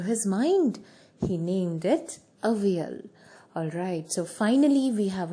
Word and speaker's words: Avial: And it is only pronounced as Avial.